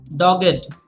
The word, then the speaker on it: dogged: the per what else dogged and that's how you want to pronounce it dogged meaning being persistent you should chase